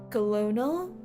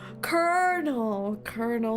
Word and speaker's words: colonel: Colonel. I always need to think about popcorn when I say this word. Colonel. Not colonel. Even though it's spelt clearly as colonel. Where's the R?